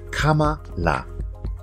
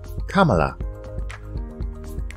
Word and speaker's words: Kamala: A lot of people are having difficulty with pronouncing her name. It's actually quite easy. Kamala. Kamala. Repeat after me. Kamala.